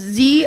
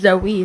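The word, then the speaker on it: Zoë: top of the E so is it proun is it pronounced zo or is it pronounced pronounce Zoe it's Zoe that's why the OOTS are there they give it the correction of the E that annunciates the E yes zoi Zoe the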